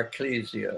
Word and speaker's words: ecclesia: Now, I'd like to change that word church, if you don't mind, to ecclesia, or ecclesia, as some like to pronounce it, ecclesia.